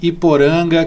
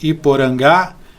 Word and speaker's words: Iporanga: Falei, putz, eu acho um nome mais quente do que Iporanga, que é uma palavra, acho que é tupi-guarani, que se pronuncia corretamente Iporangá, quer dizer rio bonito, quer dizer porra nenhuma, rio bonito.